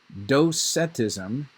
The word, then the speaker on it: docetism: think or to seem so in dosetism is the way you pronounce that heresy it's a sub-heresy of